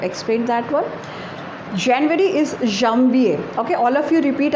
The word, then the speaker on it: Janvier: Then what is January is Janvier, Janvier, and the pronunciation is Janvier.